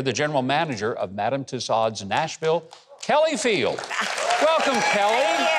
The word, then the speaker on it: Tussauds: Tussauds. Tussauds. The French leave off a couple letters at the end of each word.